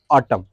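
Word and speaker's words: autumn: होना नहीं होता है इसका शुद्ध नाम क्या है एटम है क्या है एटम इसको क्या पढ़ते है इसका प्रनंसीएशन होता है एटम एटम मतलब होता है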